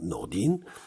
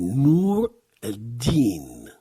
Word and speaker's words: Nour ad-Din: Qu'on prononce couramment Nordin, c'est Nour ad-Din.